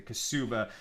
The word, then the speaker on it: ketubah: the amount specified in the ketubah, or the kasuba in a more Ashkenazic pronunciation.